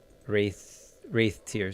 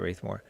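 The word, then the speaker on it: Rathetear: right here, Lake Wraithmore. Wraith Tier, sorry. Lake Wraith Tier. I keep calling it Wraithmore.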